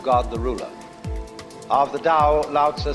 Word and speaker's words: Dao: This principle of organic growth they call dao that's pronounced dao. If it had an apostrophe after it, it would be pronounced tao.